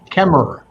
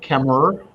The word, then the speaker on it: Kemmerer: Kemmerer. Oh, okay. I don't pronounce the last ER. I just pronounce it Kemmerer, and that's fine.